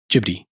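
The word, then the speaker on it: Ghibli: but he calls it with a hard J J I think that I don't know if that's soft or hard but the actual Japanese pronunciation is more like jiy okay Studio jiy okay but whatever it doesn't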